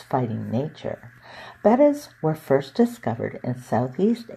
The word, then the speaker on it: Betta: to around 3 inches I'm still guilty of mispronouncing their name as beta but its proper pronunciation is better the name has been